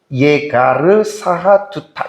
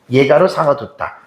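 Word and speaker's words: יגר שהדותא: 히브리어로 보면은 예가르 사하두타 이렇게 발음을 한 거예요. 예가르 사하두타.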